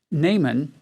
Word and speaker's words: Naaman: army his name is na aman we would traditionally in english we pronounce his name naaman and it means pleasant